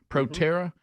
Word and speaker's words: Proterra: Here he is praising the EV company Proterra, is that how you say it? Yeah. Proterra, which his own energy secretary was heavily invested.